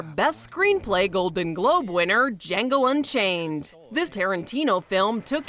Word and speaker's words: Django: Moving from spot number 2 to spot number 4, Best Screenplay Golden Globe winner Django Unchained. This Tarantino film took in $11 million. What's your name? Django. The D is silent.